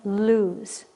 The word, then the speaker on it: lose: lose my mind and those have a different pronunciation loose and lose loose with the two o's means not fastened lose means to misplace something eight it is it's